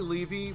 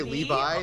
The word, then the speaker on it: Levy: I say Levy, but I never correct people if they say Levy. If they say Levi, that's a different Jewish name.